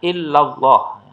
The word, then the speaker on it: illallah: Nah, kemudian di kalimat berikutnya illallah. Ini sebetulnya illa Allah gitu ya. Kemudian disambung dalam pelafalannya menjadi illallah.